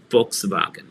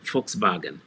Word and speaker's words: Volkswagen: the folks's wagon so the v as it pronounced as an f volkswagen volkswagen and the w is